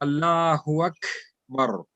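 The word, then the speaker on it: الله أكبر: So like when we are saying Allahu Akbar is not Allahu Akbar. It will be Allahu Akbar. Allahu Akbar. So it has a little effect of kha, but don't pronounce it as kha. It is just that sound has to be a little bit flowing.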